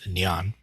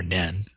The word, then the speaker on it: 念: in in modern Chinese neon or nen or neom in depending upon which accent or country you're pronounciation is trying to um approximate to read to study